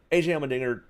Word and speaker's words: Allmendinger: I mean, for AJ being the road course ringer, I think he just got it because it rhymes with dinger.